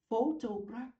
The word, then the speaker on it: photograph: Bạn đọc là photograph. Nhưng bạn có cái việc mà nhiếp ảnh gia đó. Bạn đọc là photography. Đó, vần hai nè. Bỏ chữ Y đi nhấn vần 1.